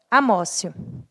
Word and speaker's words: amotio: E aí e pensio conhecida também como Amós you se escreve amotio a beleza é desnecessária